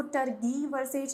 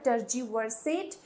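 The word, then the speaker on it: tergiversate: टी ई टर्ज वर्सेट अब इसको टर्ज वर्सेट नहीं बोलेंगे ये जो है जी इसको हम जी ही प्रोनाउंस करेंगे यह हो जाएगा टर्ज वर्सेट या फिर इक्विवोकेट और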